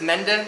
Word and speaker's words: Mende: I think it's Mende is how you say it, M-E-N-D-E.